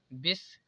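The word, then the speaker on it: biscuit: यहाँ पर भी देखिए बिस्कुट, बिस्कुट पढ़ा जाएगा क्योंकि यहाँ पर I वावेल है इसलिए यहाँ पर U कॉमन है तो इसे पढ़ा जाएगा बिस्कुट।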